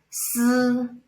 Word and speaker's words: si: Then the last one, snake hissing, si, si, like when you say silk, si, si.